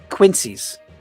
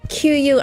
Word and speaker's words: quinzee: Quincy's. Right. Quincy's. I've just corrected chat. Quincy's. Okay. I know you don't deal with snow very much. It's not spelled like Quincy, though. It's not spelled like that. It isn't spelled that way. It's is it 2 E's? It's Quinzee.